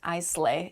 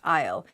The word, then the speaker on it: isle: the next word is isle isle is a weird word so yes there's an s in the word isle but it is not pronounced i slay it's pronounced i'll isle with an a